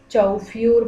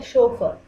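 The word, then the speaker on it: chauffeur: इसे कोई चौफ्यूर पढ़ेगा तो कोई चौफर पढ़ेगा, लेकिन इसका असली प्रोनाउंसिएशन जो कि बिल्कुल सही है वो है शोफर।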